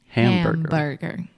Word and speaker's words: hamburger: But in the word hamburger, you always want to close your mouth with the final M in the word ham. Hamburger.